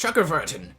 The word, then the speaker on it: Chakravartin: It's without a doubt pronounced Chakravartin. That's how you pronounce it, and I won't have anyone else tell me otherwise.